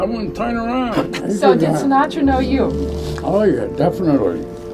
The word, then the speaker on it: Sinatra: So did you know Frank Sinatra? You said it wrong. Frank Sinatra.